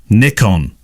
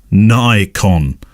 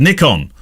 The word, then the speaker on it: Nikon: on a mini rant Nick on as in Nick on not Nikon we aren't American and I'm not sure why this American pronunciation has crept in for decades we've said Nick on I believe that the Japanese permanent pronounced ni is knee knee con don't dumb down our